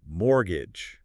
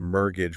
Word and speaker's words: mortgage: about the pronunciation of mortgage. Oh, right. Because it's one of those tricky English words. It is. It's not pronounced mortgage with a hard T, right? It's mortgage without the T sound.